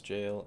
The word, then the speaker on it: gaol: Gale equals jail and gaoler equals jailer.